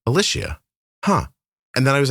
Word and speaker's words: Ellishia: It's actually spelled phonetically, but you'd be surprised the amount of people that get it wrong.